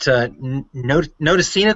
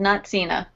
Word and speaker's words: Notacina: And got Andrea Bomarito, who's the embroidery specialist at Notacina Corporation. Is that pronounced correctly, Andrea? Actually, very close, but it's called not Cena.